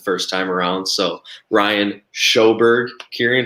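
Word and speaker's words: Sjoberg: saying so ryan underscore shoburg shoburg is spelled sjo b-e-r-g no one can say my last name right let's be honest and first time around so ryan shoberg kieran how about you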